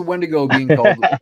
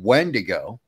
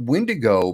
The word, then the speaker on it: wendigo: called one to go it's in the spelling Justin it's all in the spelling w-i-d-w-i-n-d-i-g-o wendigo okay that it's pronounced different you have when to go then you have wendigo wendigo is a name